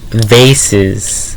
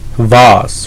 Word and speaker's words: vase: thinking about is vases I think a lot of people pronounce them like bosses right well I was thinking about a like a five foot six foot vase Vos whatever you guys want to call them and I want to